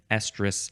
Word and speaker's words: estrus: That's one estrus cycle. Estrus, that's how it's pronounced, and I think the other one that's coming up is also pronounced the same way.